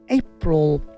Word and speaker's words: April: এপ্রিল, এপ নট এপ্রিল, এপ্রিল, এইপে জোর দিয়ে বলুন এপ্রিল, এপ্রিল।